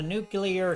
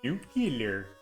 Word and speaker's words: nuclear: The little Homer throwaway lines where it's like, I bet all of y'all have never been on a nuclear submarine before. And he says, nuclear. It's pronounced nuclear.